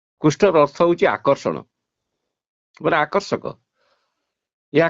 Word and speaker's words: কৃষ্ণ: কৃষ্ণ নাম নিজেলে কৃষ্ণর অর্থ কোন জানি কৃষ্ণর অর্থ হচ্ছে আকর্ষণ আকর্ষক ইয়া কৃষ্ণ নাম নয়ে সঠিক উচ্চারণ হইছে কৃষ্ণ আপন কারাগের জন্ম নেই সে